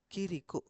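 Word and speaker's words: 그리고: அங்கால என்ன வந்துருக்கு இக் இ ரீ வந்திருக்கு கீரை கிரிக்கோ எப்படி கீ இர்ரி கிரிக்கோ கிரிக்கோ.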